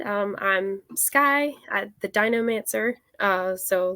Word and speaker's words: DinoMancer: Sky Walker from the dinomancer am I pronounce that right yeah that's it it's like Necromancer just dinosaurs I mean fair enough